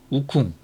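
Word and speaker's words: 悟空: 자체개발 양적 컴퓨터 오리진 우콩 그니까 어 중국 발음으로는 우쿵 한국말로는 공 손공 얘기하는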